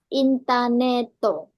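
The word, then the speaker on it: インターネット: Kalau untuk Ah, garis datar yang di itu pelafalan panjang. Ada istilahnya Hatsung, Intaneto. Nah, bisa juga sebagai pedabulan huruf, tapi dia lebih ke Hatsung panjangnya. Jadi penyebutannya itu agak panjang yang ada garisnya Intaneto.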